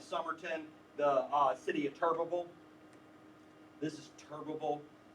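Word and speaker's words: Turbeville: the uh city of turbiville this is turbiville you would never pronounce it that way but that's how Southerners pronounce it tural t r v v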